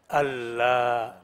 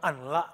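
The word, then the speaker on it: أَلَّا: Ini kan ada an-la. Ya. Kok bacanya bukan an-la, kok langsung Allah? Nah, itu namanya idgham bila gunnah. Artinya nun sukun ketemu lam tidak didengungkan. Idgham itu artinya dimasukkan. Nun masuk ke lam.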